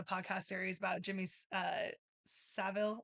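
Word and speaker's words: Savile: series about Jimmy uh Savil, I believe is how you say his last name. Yeah, Seville. Yeah. I I feel like the Americans say it wrong like that we say it differently than the the the English do.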